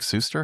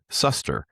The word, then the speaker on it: Suster: The um the AI told me definitively when I asked that your name is pronounced uh Suster.